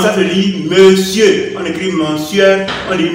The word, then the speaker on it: monsieur: Ça se prononce, ça se lit monsieur. On écrit monsieur, on dit monsieur.